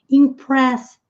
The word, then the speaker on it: impressed: Na frase anterior, impressed, impressed. Sem falar a letra e o d com som de t.